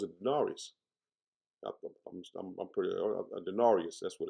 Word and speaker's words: denarius: I'm pretty a denarius. That's what it's pronounced.